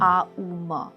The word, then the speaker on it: AUM: जैसे कि मैं आपको आम की बात करती हूँ, आ उ म। अब कई लोग उसको ओम बोलते हैं। आ उ म जो है, आप उसका सही तरह से उच्चारण करें, कुछ टाइम तक उच्चारण करें।